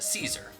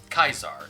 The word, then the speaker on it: Caesar: Once Shinjiro dies, Akihiko's persona evolves into Caesar, or Kaisar, depending on your pronunciation.